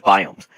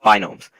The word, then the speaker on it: biome: to waste any time here's biomes which iofrequently mispronounced binomes there are six different